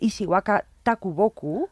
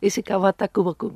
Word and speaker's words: Ishikawa Takuboku: presentará sus traducciones de un escritor japonés de Ishiwaka Takuboku. ¿Lo he Ajá. dicho bien? Ishikawa Takuboku.